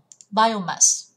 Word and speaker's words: biomass: Chỉ có đáp án A đọc là biomass, bio, biomass. Nó vào âm tiết đầu tiên, còn lại vào âm tiết thứ 3.